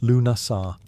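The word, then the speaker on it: Lughnasadh: Lugnasad, pronounced Lunasar, the Celtic festival honoring Lug, the god of light, craftsmanship, and war.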